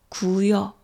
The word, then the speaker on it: 고요: 뭐뭐하고요라는 그런 말을 많이 하는데 그 말을 할 때 고요가 아니라 구여 이런 식으로 많이 말해요.